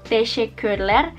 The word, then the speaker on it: teşekkürler: Nanti aku tulis teşekkürler atau teşekkür ederim, tulisannya kayak apa, dibacanya teşekkürler sama teşekkür ederim.